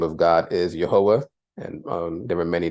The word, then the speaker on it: Yahweh: our bible discussion the name of God is yahwah and um there were many that pronounced his name as Yahweh you see that in many books as well